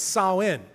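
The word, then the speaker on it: Samhain: festival that Festival was known as sain now it's spelled Sam ha you may be more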